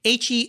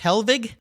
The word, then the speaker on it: Hellwig: car show website hellwig h-e-l-l-w-i-g now originally was that pronounced helvig as a family having some yeah blonde hair some german roots back there i kind of thought that might be yeah helvig well hellwig products awesome